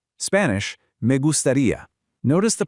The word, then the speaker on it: me gustaría: Spanish, me gustaría. Notice the pronunciation of the G here. It's a soft, slightly breathy G, followed by that long E sound at the end.